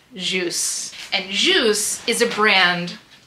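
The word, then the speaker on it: Kjus: Now, this is one of their smaller pieces, but this is called Juice. And that is pronounced Juice.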